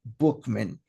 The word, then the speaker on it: Buchman: That's what the leader of the Oxford Group, a guy named by the name of Frank Buchman, although it's spelled Buchman, it's pronounced Bookman.